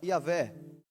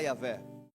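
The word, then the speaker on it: Yahweh: Original tem as letras Y, H, W, H. E a gente, para poder pronunciar esse nome, a gente fala Yahé, né? trazendo assim como Yeshua virou Jesus, eh, Yahvé virou Jeová, mas você pode falar Yahé.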